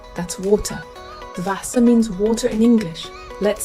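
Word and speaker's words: Wasser: English say it fogal w is pronounced V one example is Vasa that's water Vasa means water in English let's say it Vasa X is pronounced x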